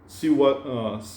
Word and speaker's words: Shiv: In English, it becomes Shiva.